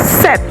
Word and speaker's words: sept: 7, sept. It's not sept. It's not a September short form. It's set.